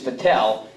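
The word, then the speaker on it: Vattel: what Mike mentioned about he pronounces it vetal I'm a Frenchman I think it's fatel but whatever you pronounce it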